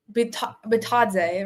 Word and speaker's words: Bitadze: Well, what happened was Bitadze, right? That's the pronunciation.